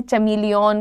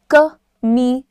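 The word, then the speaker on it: chameleon: है, कोई कहता है चमीलियन, कोई कहता है कमीलियन। अब प्रॉब्लम ये है, द प्रोनाउंसिएशन इज कमीलियन।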